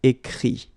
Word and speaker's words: écrit: Écrire, to write, will become écrit. Okay? Remember that phonetically this final T doesn't exist. Okay? So the sound will be only this I, écrit.